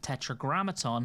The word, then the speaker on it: Tetragrammaton: On top of that, we got a second charge of Tetragrammaton, and yes, I finally know how to pronounce it correctly.